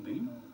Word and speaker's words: Boehm: Boehm is spelled B-O-E-H-M. Has anybody just... I know him, Beam.